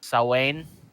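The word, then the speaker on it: Samhain: what is it from the celtic isles it's salwain is how it's pronounced um for those of you who don't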